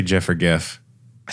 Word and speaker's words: GIF: GIFs have like changed the game too. Do you say GIF or GIF? I say GIF.